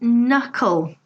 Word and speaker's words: knuckle: Knee and knuckle. We have silent Ks. It's not knee, it's not knuckle. Silent Ks, again, a very common feature of English.